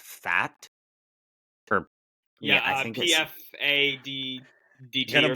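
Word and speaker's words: Pfaadt: Gallen, and I think his last name is pronounced Fat.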